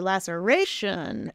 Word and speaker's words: laceration: when it starts at the beginning Lasser Lasser laceration excellent excellent job high five you're on fire